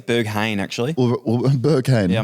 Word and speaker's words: Berghain: called i think it's berhan so you just pronounce it you're gonna go behind i think it's berghain actually or burger king yeah 99 it's berghain